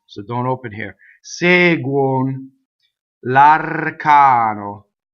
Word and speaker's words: l'arcano: Seguono, l'arcano. L'arcano. So the R is rolled. One N.